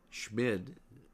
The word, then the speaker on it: Schmid: Schmid s c hm i d.